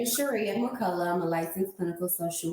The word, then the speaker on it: Shirria McCullough: So with that being said, please welcome my guest, Miss Shirria McCullough.